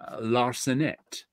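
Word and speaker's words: Larcenet: there we go Manu laret L the t is silent because it's the last letter in the word I'm take a screenshot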